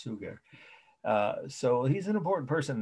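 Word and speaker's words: Suger: he's the father of gothic architecture is bishop sugar and that's s-u-g-e-r almost like the word sugar but pronounced sugar so he's an important person in the history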